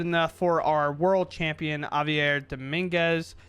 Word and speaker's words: Javier: for our world champion Javier Dominguez, the J I'm pretty sure is silent, Javier Dominguez.